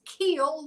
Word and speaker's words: Kuehl: being feminine so Justice Keel welcome thank you thank you so much and great job with my last name doesn't look like Keel but yep that's how you say it uh oh it's good